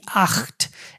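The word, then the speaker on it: acht: সাত আট হচ্ছে আ আ সি হা টি আখট এখানে সিহার উচ্চারণটা অনেকে সিয়ার উচ্চারণ নিয়ে একটু প্রবলেমে ফেস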